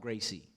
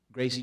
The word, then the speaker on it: Gracie: was trained by Ralph Gracie. His name is spelled like Ralph, but he's Brazilian. You say it like an H. You say the R's like H's. Ralph Gracie, the pit bull.